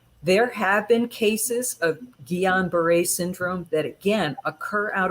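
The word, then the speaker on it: Guillain-Barré: syndrome which is pronoun it's a french word it's pronounced guillain-barre so or just gbs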